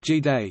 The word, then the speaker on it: GDAE: The Global Development and Environment Institute (GDAE), pronounced G-Day, is a research center at Tufts University founded in 1993.